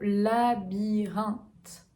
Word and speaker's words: labyrinthe: Ensuite, on a le mot labyrinthe. Labyrinthe. Ok, on a une voyelle nasale, un. La mâchoire est très relâchée.